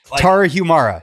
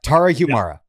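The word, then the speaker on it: Tarahumara: humumera ter yes boy you really messed me up with that first pronunciation. Yeah, I can't say it. Tara Humara. Tara Humara. There we go.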